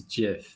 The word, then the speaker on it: GIF: it gif how do you pronounce it i pronounce some gifs too they're saying it's jiff though yeah yeah cool that's when they released